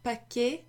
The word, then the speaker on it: paquet: Now this pot, a bit like paquet, you don't pronounce the T at the end, okay?